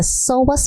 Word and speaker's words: psoas: little bit anatomy of the psoas muscle with a silent P so psoas is a